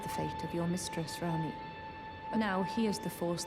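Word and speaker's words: Ranni: I let her talk the whole sentence so I could hear her say the name, and I guess it's pronounced Rani?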